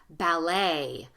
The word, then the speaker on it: ballet: One thing that you can count on, French words. We stole a lot of words from French, and these words like, you can see this one, buffet, ballet, filet, words, French words that end in the ET. We keep the French pronunciation, although we use our